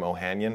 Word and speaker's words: Ohanian: about that um and I normally pronounced my name ohanyan this was an entire threads just to be clear just because it's easier because it's fewer syllables I I know I